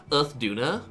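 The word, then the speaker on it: Uth Duna: Like, it's actually pronounced Earth Duna.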